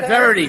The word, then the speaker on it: Verity: How do you pronounce it? Verity? Yeah, Verity.